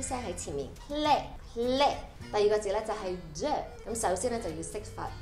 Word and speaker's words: Clé: 在前面 Lé Lé，之后再加个 K，由喉咙发出来的 K 声在前面 Clé Clé。第二个字就是 the，咁首先就要识发 e 呢个音啦，e，之后就加个 d